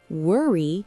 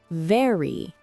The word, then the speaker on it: very: Many learners say worry for very. Remember, it's V, not W, very.